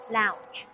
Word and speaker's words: lounge: 正確讀音 lounge lounge。